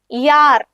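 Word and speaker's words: Jahr: യാർ.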